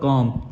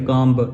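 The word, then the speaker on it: comb: यहां पर क्या करेंगे बी को हम साइलेंट रख लेंगे तो हमारा उच्चार क्या हो जाएगा लब्स का कॉम कॉम सिर्फ कॉम कॉम ब ये नहीं पढ़ेंगे कॉम ऐसे नहीं पढ़ेंगे अगर बी का उचार निकालेंगे तो वो गलत हो जाएगा हम लब्ज पढ़ेंगे कॉम सीओ एम बी कॉम उसके बाद हमारा दूसरा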